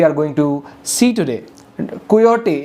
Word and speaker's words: Quixote: going to see today coyote is q-u-i-x-o-t-e x is silent um mostly x's are silent i'm serious so you